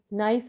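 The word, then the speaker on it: knife: उसके अंदर एक वर्ड के एन आई एफ ई नाइफ है तो इसमें के का उच्चारण नहीं होता एवं इसको नाइफ ही बोला जाता है।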